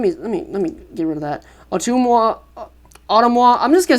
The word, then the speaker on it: Ottumwa: Ottumwa. Let me get rid of that. Ottumwa.